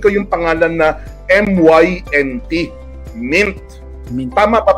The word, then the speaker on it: Mynt: Napansin ko yung pangalan na MYNT, Mint. Tama pa pagka-pronounce ko, MYNT.